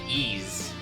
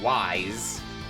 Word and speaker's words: Ys: Some days I wonder if I'm saying it right when I say ease. Yeah, now I get information on monsters. Woo! Okay, I do know a thing or two. I did have one person at one point pronounce it wise.